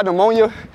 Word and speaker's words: pneumonia: cold out here pamonia you ever wondered why pneumonia was spelled with a p instead of just the end that's like knight spell with a k uh 12 again yeah